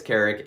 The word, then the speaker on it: Carrick: Besides being a coaster enthusiast, my name is Carrick, and that's pronounced like Eric with a K or C in front of it.